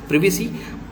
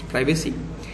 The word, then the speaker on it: privacy: Sometimes nowadays it is being pronounced privacy, but earlier we used to say it is privacy. So however you feel comfortable.